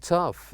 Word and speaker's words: tough: Enough, laugh, and tough. This is just to help us know that sometimes words in GH pronounce as F sound.